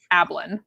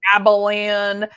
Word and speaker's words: Ablin: my my last name my maiden last name was a b l an ablin okay but people would add extra syllables abalan abalon and it's like there's no